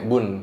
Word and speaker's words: Boen: Lukas kan ada belakangnya ada BOON ya, Bun. Bun bacanya.